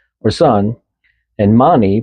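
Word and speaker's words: Máni: So s o l or sun and mani pronounced m a h ne e.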